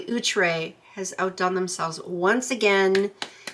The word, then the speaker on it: Outre: I have to remember to say it correctly utre has outdone themselves once again bravo bravo bravo